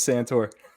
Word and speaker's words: Santore: you say your name correctly I bet santor that's santor from Rhythm Sports saying that Michigan is a fraud views expressed right now are only by santor Ohio State Community let's go let's have some